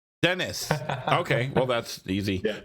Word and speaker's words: Deniz: we have M ray how do you say your last name then it's Dennis okay well that's easy